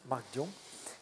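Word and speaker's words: Mark Dion: Et oui, toi, tu le prononces à l'américaine, mais moi non, Marc Dion.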